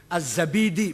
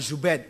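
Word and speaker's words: al-Zabidi: enggak ada Asmi asma azzabidi bukan zubaid zabid apalagi jadi jadi Silakan baca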